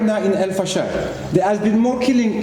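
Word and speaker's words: El Fasher: the right pronunciation, Al-Fashar. Al-Fashar.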